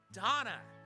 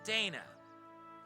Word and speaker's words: Dana: I will see you back tomorrow when we continue East 8 LOSa of Donna, not Dana. I want to make sure I say it right from now on.